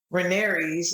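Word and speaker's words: Rhaenys: around uh i think i read somewhere that renee's is that how you say her name yeah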